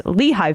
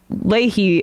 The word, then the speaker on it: Leahy: and that process is known as Lehi vetting um or Ley vetting sorry I keep saying it wrong but it's after Patrick Lei the uh the senator and